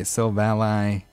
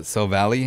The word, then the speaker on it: Silvally: We got the Silvally. I remember before I ever heard Silvally's name, I used to call it Silvally, and a little kid like corrected me on it.